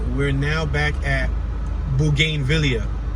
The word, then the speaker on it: bougainvillea: we're now back at bougainvillea it's spelled b-o-u-g-a-i-n-v-i-l-l-e-a that's a mouthful boo game villa unless you want to